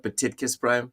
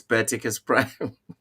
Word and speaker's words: Baticus Prime: That is actually how to pronounce that name, guys. It's not Baticus Prime. It's Baticus Prime. I went to his YouTube channel the other day, and that's how he pronounces it.